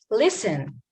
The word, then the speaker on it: listen: Listen, this letter is silent again.